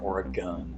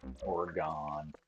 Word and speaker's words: Oregon: it's pronounced Oregon it's not or a gun orgon it's orgon you can say orgon